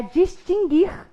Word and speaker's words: distinguir: tombo ea outra é a distinguir não se distinguir o não é pronunciado também nessa palavra de forma